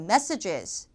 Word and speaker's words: messages: 근데 복수형일 땐 그렇지가 않아요. G2로 이제 정타로 발음해 주셔야 돼요. messages 하셔야 돼요. messages.